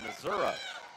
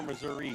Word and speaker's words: Missouri: mispronounce from Kansas City Missoura is it Missour or Missouri what do you say Missouri you're from that state they call it Missour no no not quite well I went to